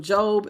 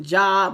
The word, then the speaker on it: Job: You know how when Job, if anybody has ever read the story of Job in the Bible, some people pronounce it Job, but it's Job, Job had started getting bad news one after the other after the other after the other.